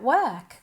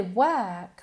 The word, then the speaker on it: work: Who looks after your little sister while you're at work? Cuidado con la pronunciación de work, ¿ok? Se escribe con una O, pero se pronuncia como si fuera una E.